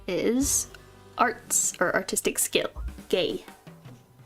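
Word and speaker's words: 芸: Start with the grass and this is arts or artistic skill, gay. I'm not just saying that art is gay. That's how it's pronounced.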